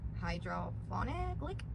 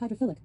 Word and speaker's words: hydrophilic: Alexa, how do you pronounce the word spelled Hydrophilic? I pronounce that hydrophilic, but I'm always working on how I say things and I might not have it right.